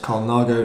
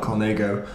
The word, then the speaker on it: Colnago: wheels do you realise it's pronounced Colnago not conmigo my apologies I will